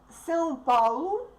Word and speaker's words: São Paulo: São Paulo. I will pronounce it with Portuguese accent.